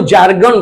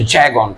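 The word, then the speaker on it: jargon: हैं recited the जैगोन जैगोन का इस्तेमाल बहुत जगह आप वो जयगोन बोलते हैं हम लोग को जयगोन कह देते हैं उसको जैगोन और जैगोन का मतलब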